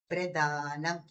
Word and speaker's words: ప్రదానం: ప్రదానం అంటే ఇవ్వటం, ప్రధానం అంటే ముఖ్యమైనది. అది మన ఉచ్చారణలో మాత్రం గమనించగలుగుతాం.